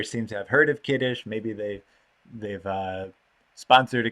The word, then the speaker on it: kiddush: sephardic hebrew might say kidus so if you're speaking to an israeli they would say kidus but unlike the kaddish kidus kiddush is hebrew it comes